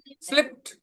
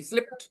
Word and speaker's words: slipped: तो उसका V2 slipped. उसमें भी ट पढ़ेंगे, ड नहीं, slipped.